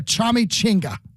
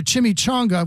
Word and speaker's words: chimichanga: were not hard like I had a guy called a chummy chinga which is a chimichanga which you don't even